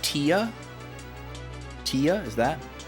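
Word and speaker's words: Téa: do not remember t t is it like Tia Tia is that it's pronounced like oh TAA TAA I see it was spelled t with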